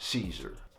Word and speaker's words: Siser: And yes, it's pronounced Caesar.